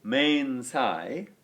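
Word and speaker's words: mensā: So mensai, the dative case, means 2 or 4 a table. And finally the ablative, mensa, with a long a at the end, is used for with or by or from a table.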